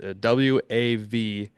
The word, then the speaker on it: WAV: He has come out WAV. You can check that out on the social medias or just go to Austin's Instagram or Facebook. He's been sharing it as well. WAV? I believe that's pronounced Wav.